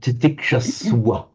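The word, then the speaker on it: तितिक्षस्व: So titiksha swa. Titiksha swa. Tiksha swa. So even though written as a V, pronounce it as a w if there's an S in front of it.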